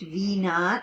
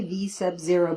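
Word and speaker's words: v₀: and this is pronounced v naught you can say v sub zero but they usually say v naught that's the initial speed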